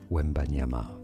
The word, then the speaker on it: Wembanyama: It's 3 syllables. Ready? Yeah. Well, it's 4, actually.